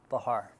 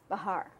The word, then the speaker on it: Bachar: Bachar. Bachar. Bachar. The C is silent.